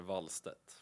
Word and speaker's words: Wallstedt: Yeah, the Swedish way is Jesper Wallstedt. Jesper Wallstedt. That sounds cool. You've got to roll the R a little bit there.